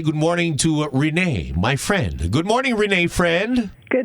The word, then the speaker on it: Friend: So, Renee, is it like a a a tricky a pronunciation to it or is it just friend? It's just friend.